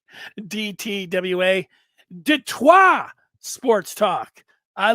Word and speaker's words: Detroit: DTWA says, pronounce it Detroit, which is French, and are the ones who founded Detroit in 1701. Detroit.